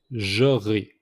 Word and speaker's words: j'aurai: Par exemple, le premier est j'aurai. J'aurai. So the importance of rolling the R, it's very important on this example.